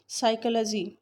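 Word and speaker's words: psychology: साइकोलॉजी, P silent है।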